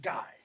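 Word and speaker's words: GHY: Two, I'm going to call him the G-H-Y. We'll pronounce that guy.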